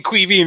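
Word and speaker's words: Caoimhín: But they were saying Quivin, and I was like, what are they? Is this a joke or is this really how you say it? But I'm glad you confirmed it.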